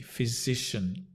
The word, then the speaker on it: physician: a fizzy drink fizzy physician f z so it's a voiced z z that is almost disappears physician and the stress on the SI or the Z physician can also talk